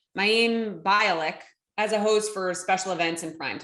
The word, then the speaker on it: Mayim Bialik: don't even know how to say her name mayim bialik as a host for special events and primetime